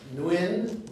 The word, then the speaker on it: Nguyen: You remember Nguyen, N-G-U, is apparently pronounced N-W-I.